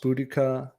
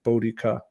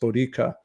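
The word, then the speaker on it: Boudica: are favoring the pronunciation bodhika I guess that sometimes they they say that middle syllables should actually be more stressed bodica but um anyway our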